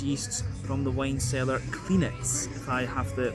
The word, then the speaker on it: Klinec: barrels with indigenous yeasts from the wine cellar Klinec, if I have the pronunciation right. K-L-I-N-E-C, so Klinec, if I am doing well with my Slovenian.